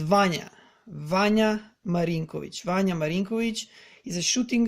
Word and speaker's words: Vanja Marinkovic: So he's not Vanja or I don't know what. He's Vanja Marinkovic.